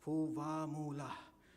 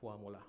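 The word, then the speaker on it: Fuvahmulah: Initially, I was pronouncing it as Puvamula. And then I was like tired and said, oh, never mind, you can say like Fuamula, okay.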